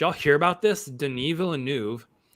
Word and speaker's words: Denis Villeneuve: all hear about this denis villeneuve i think that's the proper way to say his name not dennis villanuev uh has a comment